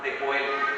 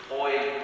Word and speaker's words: Joel: Joel o Joel, como lo pronuncian en inglés, ¿verdad? Joel será una pronunciación más parecida a la del hebreo, es yo de Yahvé, de Jehová, de Yahweh, es Dios.